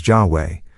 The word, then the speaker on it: Yahweh: This is still truer of the tetrogrammaton jaba which we are accustomed to pronounce as jahe in imitation of medieval Christian authors. According to Jewish tradition, the true ancient pronunciation which was revealed only to the priests has been lost.